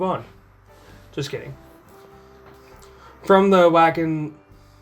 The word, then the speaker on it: Wacken: just kidding from the Wacken oh it's Bakken well I'm pronouncing it wack and you can't stop me from the Wacken show